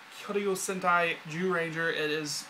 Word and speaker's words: Zyuranger: It's, like I said, it's called Kyoryu Sentai Zyuranger. It is pronounced Zyuranger.